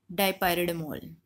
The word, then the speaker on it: dipyridamole: So this will tell us about the drug, which is this P is silent, DIY red amol, dipyridamole. So friends, in the other video we will cover the nitrates and the beta blockers.